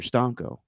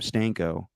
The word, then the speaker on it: stanco: from learning Italian is when you're tired you're Stanco so if you ever hear me say I'm stano it's because I'm tired but you pronounced it two different ways I know but it's